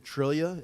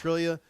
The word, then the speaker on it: Triglia: My name is Dr. Trillia. It's spelled Triglia. It's Trillia.